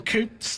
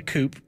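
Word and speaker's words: coupé: Most people tend to like convertibles a little more, but I'm saying it wrong. It's coupe, and I'm sure Ian Callum would whack me around the back of the head if he heard me say coupe.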